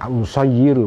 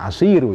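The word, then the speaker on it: أُصَيِّرُ: Kita bacanya usayyiru, bukan asiru ya.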